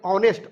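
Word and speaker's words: honest: अब इसका उच्चारण देखें, ऑनेस्ट ऑ आ रहा है, यानी कि हम आइन लगाएंगे।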